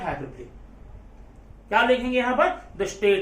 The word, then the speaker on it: hyperbole: देखिए जरा स्पेलिंग में ये हाइपरबोले दिख रहा है, लेकिन इसका आप प्रोनाउंसिएशन हाइपरबोले बोलेंगे।